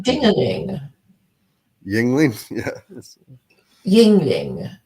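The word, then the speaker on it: Yuengling: Yingling. Yeah. Ying. How do you spell that?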